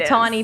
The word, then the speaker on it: Punxsutawney: Okay, I don't know why, in but it Punxsutawney, is.